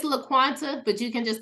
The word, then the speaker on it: LaQuanta: to thank you uh is it lates am I pronouncing your your name right I'm the world's worst when it comes don't worry we're good it's laquanta but you can just